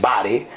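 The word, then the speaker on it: βάρη: versículo dos es baré la palabra baré o como se pronuncia bien en el griego que es bare pero se va estar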